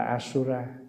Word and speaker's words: asura: Bồ Tát a la tiếng Phạn đọc là asura cho nên mình chỉ